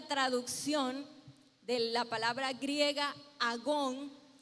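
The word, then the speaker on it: ἀγών: el que se escribió, es una palabra que se pronuncia agón.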